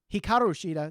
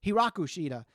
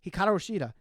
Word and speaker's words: Hikaru Shida: Instead of saying Hikaru Shida, they say Hiraku Shida. So for those that are nitpicking there, it's Hikaru Shida.